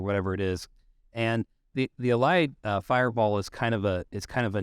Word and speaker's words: Ahad: Ahad.